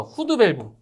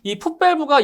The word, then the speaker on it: 풋 밸브: 이 후드 밸브는 이 풋 밸브가 영어로 하면 이렇게 돼요, 이렇게 풋 그리고 밸브. 자, 이렇게 되는데 이 풋 밸브를 일본식 발음으로 하면 그게 후드 밸브예요.